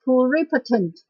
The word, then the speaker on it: pluripotent: One more example for pluri, but this time, because the word that connects with the prefix, we will change the way we pronounce it. It's pronounced as pluripotent.